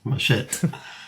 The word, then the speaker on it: machete: He plays classical guitar, jazz guitar, lute, theorbo, baroque guitar, vihuela, mandolin, banjo, ukulele, baroque guitar, machete. Am I pronouncing that correctly, Rob? Yeah, machete.